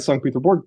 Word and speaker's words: St. Petersburg: I'm going to use the Russian pronunciation there. I went outside St. Petersburg to Petrozavodsk, which was